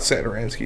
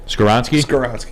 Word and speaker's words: Skoronski: It's not Saturansky, is it? Skoronski?